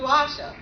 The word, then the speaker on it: Asia: And yes, it's spelled Asia. They named the continent after me, but totally mispronounce it every time.